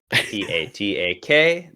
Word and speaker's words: Patak: Going to spell that incorrectly. Patak.